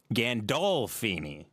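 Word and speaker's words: Gandolfini: So, now I'm going to look up how to pronounce James Gandalfini. James Gandalfini. Gandalfeni.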